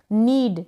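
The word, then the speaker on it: knead: देता है ये है नीड यहां पर के जो है ना साइलेंट है नीड का मतलब है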